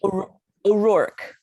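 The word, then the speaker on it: O'Rourke: ORourke. ORourke. Okay, I'm going to get it right. Say that again, Elisabeth. ORourke, like just the O stands alone and then Rourke.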